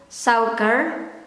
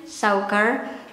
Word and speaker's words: suiker: And this one, sugar in Dutch is suiker. That's the way I pronounce it in daily conversation, suiker.